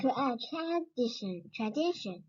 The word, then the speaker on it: tradition: 所以 d 重读是 dition，那前面怎么读？合起来。 tradition.